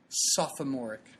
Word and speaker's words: sophomoric: there I like to I like to actually pronunciate the extra o sophomoric I had a teacher that told me that's the correct way to say it and I've said it